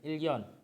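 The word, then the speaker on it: 일년: Real, ketika real ketemu sama nian, niannya akan berubah menjadi real. Jadi dibacanya double L. Ilyon.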